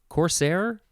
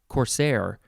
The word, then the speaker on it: corsair: word it is courser corsair corsair corsair or corsair emphasize either syllable i c-o-r-s-a-i-r noun from